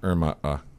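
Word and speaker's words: IRMAA: Actually, it's properly pronounced IRMA.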